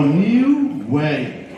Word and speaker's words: Niue: nearwood so just just just imagine you've got a new general all right that's new and uh we made my run dmc run dmc walk this way so new way new way so if you pronounce me away that's how you pronounce it new way what do we